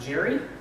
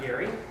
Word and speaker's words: Gery: So, just to clarify a couple of things, my name is pronounced Gery, not Gary.